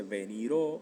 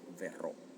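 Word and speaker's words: verrò: No se dice veniro, no se dice venro, se dice verro con la vi, ¿okay? Con la vu, o sea, la v que se hace lábio dental.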